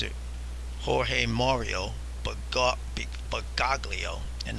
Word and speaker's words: Bergoglio: They keep saying Bergoglio, insisting on leaving the G silent at, you know, the second G silent in his name. And I guess they could say, well, it's because it's Italian. Name is Italian, you've got to pronounce it Bergoglio, but not me.